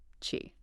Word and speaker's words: qi: And hey, just a quick heads up for later talks when we mention key. Ah, yeah. It's pronouncedqi. Just so everyone's on the same page. Good tip. Chi.